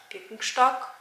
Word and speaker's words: Birkenstock: Is this the way you say Birkenstock in English? Because Birkenstock is a German brand and we spell it like Birkenstock. But I think the English version is Birkenstock. So yeah, let's say that. I went there because I